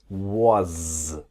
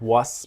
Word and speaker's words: was: And the W-A-S, it's like a Z, the was. Not was, but was.